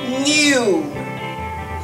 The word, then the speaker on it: knew: new new new new is the past form of the word no when you understand something when you realize something in its past form it is new new knew to have an information i knew she would come i knew she would come new this word new also sounds like and e-w-n-e-w new something